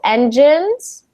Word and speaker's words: engines: Although these have the same letters, INES, they're actually pronounced very differently. So engines, Engines?